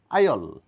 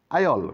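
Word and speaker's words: aisle: এর কোন সাউন্ড নাই এটা এইচল না আইল করিডোর আইল করিডোর এস এর কোন সাউন্ড নাই ভিসকাউন্ট ভিসকাউন্ট না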